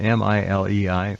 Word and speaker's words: Milei: The president of Argentina, Milei, I forget how you pronounce it formally, M-I-L-E-I, Milei.